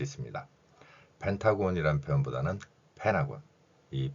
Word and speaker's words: Pentagon: 단어가 바로 펜타곤 있니다 그런데 영어의 의문 현상 중에서 n 뒤에가 오면 티가 발음이 나지 않습니다 따라서 펜타곤이 발음보다는 펜하고 이런 발음을 더 자주 접하게 될 것입니다 오각형 모양의 미국 국방부를